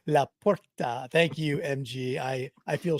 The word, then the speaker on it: LaPorta: Laporta. La Porta.